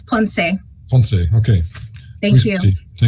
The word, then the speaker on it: Ponce: I'm sorry, I don't know how to pronounce her last name. Right. Aloha kako, it's Ponce.